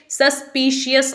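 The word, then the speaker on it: suspicious: सस्पिशियस, बहुत से लोग इसे सस्पिशियस बोलते हैं, तो आपने इसे सस्पिशियस नहीं बोलना है।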